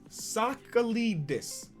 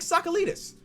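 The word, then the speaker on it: Tsakalidis: it or not and it's pronounced soccer leaders soccer leaders jake jake sakalitas that's easy bro i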